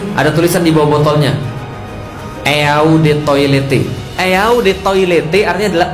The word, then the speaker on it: eau de toilette: Pernah pakai parfum asli, ada tulisan di bawah botolnya, Eau de Toilette. Eau de Toilette artinya adalah eau de toilet bacanya.